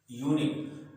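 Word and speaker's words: unique: समझते हैं, जैसे यूनिक है, यूनिक।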